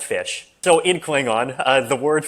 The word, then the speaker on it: ghoti: So basically the meme is, how do you pronounce GHOTI? Okay. It's pronounced fish.